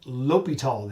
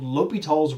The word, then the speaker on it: L'Hôpital: but it is called l'hopital the h is silent in french so this is called l'hopital's rule who is it